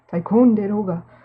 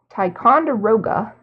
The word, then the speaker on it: Ticonderoga: snacks X Dixon Ticonderoga was gonna pronounce it japanese-style Tycoon did Olga no Ticonderoga number two pencil so it's